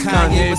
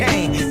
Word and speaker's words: Kanye: It's Kanye, but some of my friends still say Kane.